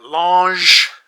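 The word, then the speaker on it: L'ange: It is a lange l apostrophe a n g. That's my French pronunciation trying to come out.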